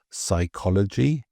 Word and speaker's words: psychology: like psychology and pneumonia, we have the silent P. And these Greek origin words often pairs a P with, say, an S or an N, but we drop the P in the pronunciation, but we keep it in the spelling.